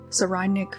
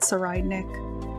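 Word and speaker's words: Tserriednich: I just like to pronounce it Saraidnik because it has both the soft sound at the beginning and the harsh K sound at the end, which emphasizes his duality,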